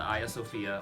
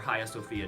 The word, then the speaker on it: Hagia Sophia: which are mosaics inside the aya sofia or jaya sophia depending on how you pronounce it there's basically two great